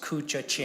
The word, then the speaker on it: Koochiching: after this bill everyone should be able to pronounce cucha Ching County so please practice with me cucha ching